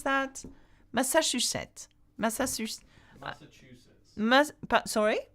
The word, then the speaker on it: Massachusetts: Massachusetts. Massachusetts. Sorry? Massa. Yeah? Chew. Chew. Sits. Massachusetts.